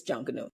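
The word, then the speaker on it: Junkanoo: junkers out there and to the tourists it's not junk it's not what how do you say it cuz I kind proun hot as said it's junka new junka new yeah someone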